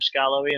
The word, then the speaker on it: Skarloey: he does mention that the emphasis on the pronunciation of Skarloey and Rheneas is a short, sharp first syllable. So like Scar, Ren, and then Aeus.